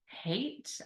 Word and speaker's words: Haidt: It's called The Anxious Generation, and it's by Jonathan Haidt, I believe you pronounce it. It's Haidt.